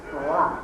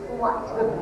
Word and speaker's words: slot: now leaders, they work, and I'm going to pronounce this very carefully, in a slot. S-L-O-T. Not you. Yeah. Last time we were here, everyone thought we were saying slut.